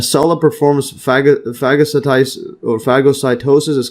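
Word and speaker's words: phagocytosis: See the pronunciation here. Fagocytosis.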